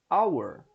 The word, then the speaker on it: hour: She's arrived an hour ago. Hour. Apesar de começar com H, tem o som de uma vogal aqui essa palavra.